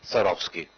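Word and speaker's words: Swarovski: Sarov scheme last year i tried desperately to pronounce this word and this year i was told just a Sarov ski so there it is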